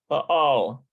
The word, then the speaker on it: פעל: I think it's let's see how it's pronounced. פעל. Yeah, פעל. pa'al, which is the structure.